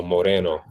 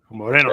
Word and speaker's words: Moreno: I like to say like the Boricuas do. So Moreno. Moreno.